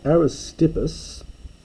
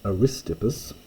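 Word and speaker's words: Ἀρίστιππος: miston foreign the cell aerospipus or properly pronounced aristipus with the accent there uh aristopus the the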